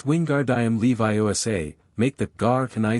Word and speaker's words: Wingardium Leviosa: Ron, struggling with the pronunciation, grew increasingly frustrated. It's Wingardium Leviosa, make the gar can I send long, Hermione instructed.